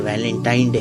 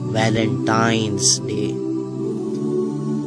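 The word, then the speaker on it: Valentine's Day: नाम पर गौर करें इसे जो आम कहा जाता है यह वैलेंटाइन डे है लेकिन हकीकत में जो इसका प्रोनाउंस एशन है वह है वैलेंटाइंस डे य एक वैलेंटाइन वाला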